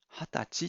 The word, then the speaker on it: 二十歳: ていいですがハタチっていうのは漢字で書くと妻は含まれていますが読むときには妻は現れません 20 妻と書いて貼ったちっと読まなくてはいけませんこれを二十歳歳というふうには読まないようにしてください同じように日付